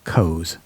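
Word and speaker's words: Coes: by a man named frank l kose c-o-e-s i'm assuming i'm pronouncing that correctly he stamped his name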